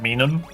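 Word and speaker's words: Minun: I pronounce it minum. I pronounce it minum because it's the phrase it's it's minus, you know, otherwise you do you call plus?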